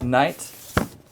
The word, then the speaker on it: Knight: That's Les Knight. The K is silent.